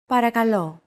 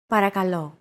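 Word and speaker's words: παρακαλώ: time for example listen and repeat after Chrissy paragalo para calo chances are your pronunciation was pretty spot on the p r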